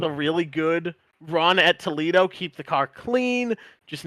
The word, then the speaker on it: Toledo: So that was nice, and I'm hoping to carry that momentum with a really good run at Toledo, keep the car clean, just not do anything